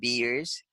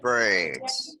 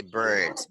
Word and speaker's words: birds: word guys because I keep hearing people saying beers and this word is pronounced birds okay birds beer is something else beer is some type